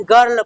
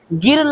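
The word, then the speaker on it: girl: गर्ल पढ़ते हैं। क्या पढ़ते हैं बच्चों? गिर्ल नहीं गर्ल पढ़ते हैं।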